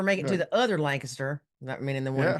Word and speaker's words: Lancaster: good to hear somebody else pronounce Lancaster properly. Yeah. Yeah. Not the California way. How do they say Lancaster there? They say Lancaster.